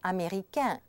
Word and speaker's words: américain: Did you notice that all the words on the left, the masculine ones, the ending was always pronounced un? And the feminine ones, the ones on the right, was always en.